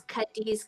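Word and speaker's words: Cadiz: for the black network is his name is kadis kada can you spell it yes kadis is c a d i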